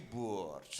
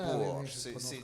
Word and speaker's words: Borch: Vous prononcez mal, on dit Borch. Ah, c'est ça. Borch. C'est joué par des comédiens de l'Est et ils disent Borch.